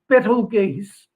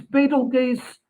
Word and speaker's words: Betelgeuse: Don't confuse it with the movie Beetlejuice. It's not the same thing, and it's not pronounced the same way either. So this is Betelgeuse, a large, very large